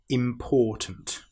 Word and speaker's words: important: Let's start with the last word, important. Now, we need to be very careful with this word, because some people will put the stress on the im, which is wrong.